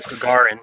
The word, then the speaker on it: Gagarin: if anybody has ever, looked at the Yuri Gagarin, I don't know if I'm pronouncing the last name right. Gagarin, yeah.